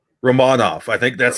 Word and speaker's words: Romanov: plays his plays well uh alexander uh it's romanov romanov i think that's how he wants it it's romanov i was that's what i was trying to